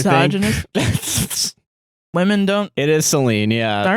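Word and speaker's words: Selene: It is Celine.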